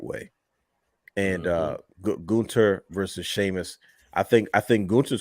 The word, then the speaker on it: Gunther: Gunther, that's his name. Like, you gotta say it like that, bro.